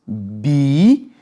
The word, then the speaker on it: bíceps: Deus parou parou parou não vai pensar que bíceps é uma palavra proparoxítona que P vai bice não é sílaba beleza pessoal esse PS não caracteriza sílaba na língua portuguesa para ser uma sílaba é necessário que se tenha vogal beleza é necessário que se tenha vogal é uma palavra paroxítona tá E olha só